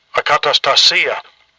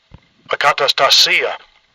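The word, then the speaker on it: ἀκαταστασία: it's the Strong's G181 concordance number, and it's pronounced Strong's G181, akatastasia, akatastasia.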